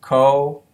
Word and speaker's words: coatis: These are coatis, Miss Brisbane said, reading from the letter, pronounced co-a-tes.